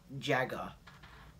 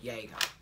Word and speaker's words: Jäger: around the rainbow succeed operator Jaeger or Jagger if you noobs don't know how to say it it's called Jaeger yeah so it says 416